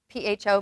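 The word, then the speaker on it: phở: Have any of you had pho? P-H-O. Maybe you pronounced it pho, but it's pho.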